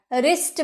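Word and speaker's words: wrist: बोला है नहीं ना क्योंकि डब्लू तो चुप है क्योंकि आर के पहले डब्लू आया है तो आर उसे चुप करवा दिया और खुद सामने ए गया रिस्ट बन गया ठीक है जो रिंकल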